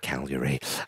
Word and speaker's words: Cagliari: Claudio Ranieri has retired from football management after leaving Cagliari, as I believe it's pronounced. Cagliari.